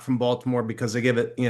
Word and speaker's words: Baltimore: And you I can always tell when somebody is not from Baltimore because they give it, you know, they give it three syllables. That's right. It's more like two syllables.